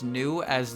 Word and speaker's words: Nue: It's new A. No. No Huju. That's her name for the rest of my life. Actually, it's pronounced new A.